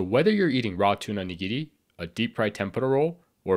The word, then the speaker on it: nigiri: So first is the nigiri sushi, or just nigiri for short. And that's how it's pronounced, nigiri. The R is more of an L, sort of. So not nigiri, or even worse, nigiri.